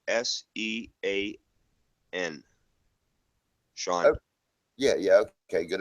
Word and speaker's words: Sean: h a w n you know what buddy pronounce it like s e a n Sean yeah yeah okay good enough Sean but